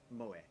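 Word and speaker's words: moe: entertainment centered around characters who possess such traits pronounced mowie that's because I love Japanese for that that's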